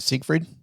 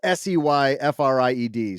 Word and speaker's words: Seyfried: this, because it starred Justin Timberlake and Amanda Seyfried, I think is how you pronounce her name. Isn't it Siegfried? No, Siegfried? No. Well, I don't know. It's Seyfried.